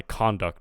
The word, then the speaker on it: conduct: address the nation but when it's a noun it the Sy the stress will be on the first syllable so conduct record and